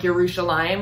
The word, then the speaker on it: Yerushalayim: that yerushalam right like she pronounced it more like yerushalayim right rather than jerusalem at the end and i liked how